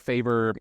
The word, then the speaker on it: Phaver: days off social obviously download favor um spelled like uh the way in my hoodie so uh found it from the App Store Play Store and and for listeners it's p h a v e r yes because with an